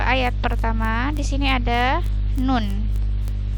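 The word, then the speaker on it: ن: Di sini ada nun. Ini huruf nun ini dibaca 6 harokat. 6 harokat tuh lama sekali ya. Jadi bacanya 6 harokat atau 6 ketukan. Bacanya nun, 6 harokat.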